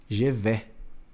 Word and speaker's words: je vais: Mas eu vou pronunciar je vais. Je vais. Isso, je fechadinho, ó. Je vais. Je vais bien. Je vais bien. Você vê que o S eu não pronuncio, né?